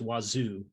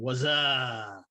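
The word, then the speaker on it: Wazuh: Then OSEC and Wazoo, it's pronounced Wazoo. I keep thinking Wazaa, but it's a host-based IDS, and it has a really nice method of authenticating to the server.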